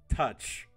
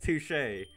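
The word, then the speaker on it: touché: I didn't want to touch it's pronounced touche whatever fancy pants Jesus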